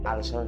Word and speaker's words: ulcer: taas ang acid at ang tamang pronunciation po ulcer Pero dito sa Pilipinas ang tawag niyo ulcer Sabihin mo nga ngayon ulcer hindi bagay balik tayo sa ulser pero nadagdagan ang pag-aaral